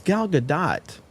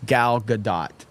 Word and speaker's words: Gal Gadot: It's Gal Gadot. End of discussion. See, people are saying no, you pronounced the T. Pronounced it. So some people are saying that you do pronounce the T in her name.